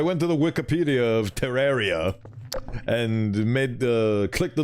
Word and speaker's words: Terraria: the name of one of the bosses in Terraria by the way did you know it's pronounced Terraria not Terraria I didn't for the longest time